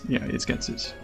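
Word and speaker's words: Ghetsis: I don't really care how you pronounce it, but it's Getsis.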